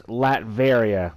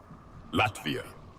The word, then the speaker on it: Latveria: It's Latveria, by the way. Latvia.